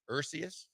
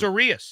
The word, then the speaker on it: Urias: It's OO dash re in all capital letters dash AHS in all lowercase. That's Urias.